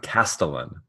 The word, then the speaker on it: castellan: We both got it wrong. Castellan. With a hard K.